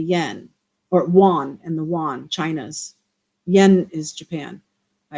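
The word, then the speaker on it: yuan: dollar and the Yen or Wan and the WAN China's yen is Japan I apologize that's the WAN which is spelled y u an did you kind of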